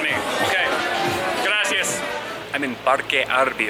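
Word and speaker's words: Parque Arví: I'm in Parque Arby right now. It's Arby Park, Parque Arby. They pronounce the V's like B's kind of, so it sounds like Arby.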